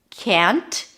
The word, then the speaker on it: can't: So you can either say cannot or pop the T, can't, if you feel that you are unclear when you're saying can't. But trust the fact that if you pronounce the as sound fully, you'll be understood.